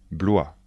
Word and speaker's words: Blois: château de chambor chambor le château de chambor Blois le château de Blois Blois le château de